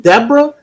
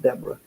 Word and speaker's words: Debra: Appreciate You is it Deborah or dbor always say that because I got a friend her name is spelled like Debra but her name is debor and she say my